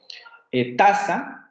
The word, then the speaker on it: taza: Taza, que ustedes saben que tiene el acento en la primera sílaba, taza, no dicen taza, dicen taza.